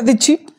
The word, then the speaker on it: the: vowel না consonant consonant consonant থাকলে তার উচ্চারণ কি হবে দা তাহলে দা কিডস এফ আই